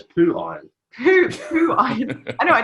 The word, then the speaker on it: POOHIRON: It pronounces as poo iron.